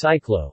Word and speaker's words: cyclo: Cycle rickshaws are known as cyclo, pronounced C-C-L-O, in Cambodia.